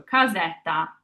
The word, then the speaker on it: casetta: So our next sound is ze. And then we just want to end the word with that tall A once again. Our A is always a tall A, so ta as our last sound. So casetta.